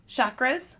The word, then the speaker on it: chakra: on the seven main chakras yes and also there's discussion about how to say it we learned after some um education that it's ch chakra like chocolate but chakra chakra chakra so there are seven